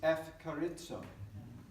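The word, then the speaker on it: ευχαριστώ: This is F. Carizzo. That's what we're doing. So, of course, Eucharist is the Greek for the Mass. And they've, over 2,000 years, changed the pronunciation so that Eucharist becomes F. Carizzo.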